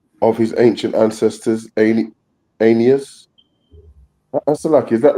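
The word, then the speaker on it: Aeneas: An anas is that right though a e n e a s anus anus.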